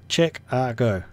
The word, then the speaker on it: Chicago: I'm saying Chicago. That's how you pronounce it. It's Chicago. Right there, Chicago. See? Chick-a-go.